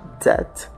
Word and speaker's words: that: Na palavra that, o TH no início da palavra tem o som de Z, ficando that.